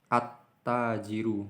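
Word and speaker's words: التاجر: terucap dengan jelas Hai maka bacanya at tajiru attajiru nih huruf ta attajiru karenanya harus tak maka lainnya ini tidak bisa terdengar jelas langsung masuk ke at tajiru itu sanksi Kalau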